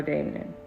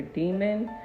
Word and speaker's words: daemon: So the D is for Damon, right? So let's look at terminology. So it says in context of computing the word is gen generally pronounced as either demon or damon.